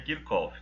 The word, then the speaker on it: Kirchhoff: Então, se vocês virem alguém chamando de Kirchhoff, é comum. Eu acho que Kirchhoff é mais utilizado do que Kirchhoff, Mas a gente entende que pelo fato de ele ser alemão, tal, a pronúncia mais correta seria Kirchhoff, tá bom? E é assim que eu uso, tá ok?